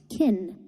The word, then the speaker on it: can: This causes the auxiliary verb can to be de-stressed and sound like kin.